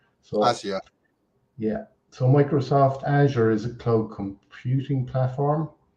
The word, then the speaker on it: Azure: Azure and some people the way you pronounce it Paul there is azure the Amer the American it's we we asked a few kind of experts in Microsoft and they call it Azure so Azure yeah so